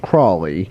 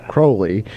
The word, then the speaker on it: Crawley: Most people here would pronounce it Crawley, but it's Crowley.